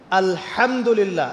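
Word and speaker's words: الحمد لله: আলহামদুলিল্লাহ।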